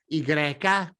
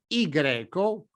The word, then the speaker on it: ipsilon: When the letter you see on the screen is by itself, it can be pronounced in different ways: i-greca or: i greco, or, better yet, in scientific fields ipsilon. Instead, when it is part of a word, it is pronounced as a common [I].